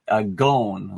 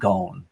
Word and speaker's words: Ghosn: Actually, he pronounces it Ghosn, like a long Ghosn, sound, like rhymes with bone or phone.